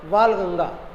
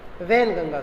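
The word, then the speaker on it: Wainganga: है, फिर मंजरा है, और फिर जो है वालगंगा है ना, वैनगंगा, सॉरी इसका प्रोनाउंसिएशन करेंगे आप, वैनगंगा, ये इसकी सहायक है।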